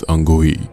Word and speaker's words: अंगूई: और ये जो बच्चे होते हैं वो अंगूई अंगूई कह रहे थे, जिसको मैंने पिछले सीजन में अंगू की कह दिया था, तो के यहाँ पर साइलेंट है, इट्स अंगूई।